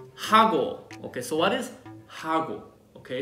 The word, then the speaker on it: 하고: Okay, so what is 하고? Okay, it sounds like Hugo Boss, that brand, but it's not.